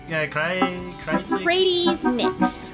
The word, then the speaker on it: Kratis Nix: And first things first, how did you pronounce this? Kratis Nix. Okay, Kratis Nix.